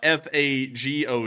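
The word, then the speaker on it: Fagot: what it's spelled uh f a g o t I'm not kidding that's what the name of the aggm is we're going to call that uh fago um like the drink because I can't say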